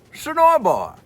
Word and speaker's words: Senoia: So boy, it rhymes. So boy, boy.